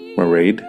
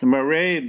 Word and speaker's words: Mairead: beautiful and wonderfully talented Irish classical crossover soprano marade Healey so in this episode of artists in